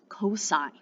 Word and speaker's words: cos: hypotenuse next we have it's spelled c-o-s when we work with it in math but it's pronounced cosine now in the abbreviation